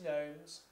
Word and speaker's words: gnomes: Gnomes, that's a word from last week with the silent G, so it's silent G, N-O-M-E-S.